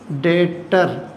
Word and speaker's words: debt: डेटर्स को कभी कभी हम बुक डेट भी बोलते हैं, बी साइलेंट होता है इसलिए बुक डेट भी बोलते हैं।